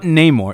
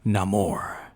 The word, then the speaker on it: Namor: but before we wrap it up it's not Neymar it's not more is that how they're pronouncing it yes none more say it again no more no more yeah no more I like that